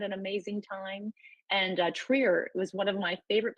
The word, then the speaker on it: Trier: and we had an amazing time and uh Trier was one of my favorite places and this is you know this is a stop that probably doesn't get a lot of people saying oh Trier am I pronouncing that correct Christine Tri yes you do